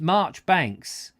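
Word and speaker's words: Marjoribanks: madness madness it's pronounced Marchbanks like the Kenneth Williams character and carry on cruising oh is it Marchbanks alright fair enough thank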